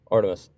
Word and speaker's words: Artemis: Can I can I can I Artemis or whatever your name is. Is that how you say it? Artemis. Artemis.